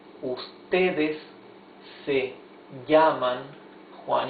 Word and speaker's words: llaman: Here it is not llaman, it is llaman.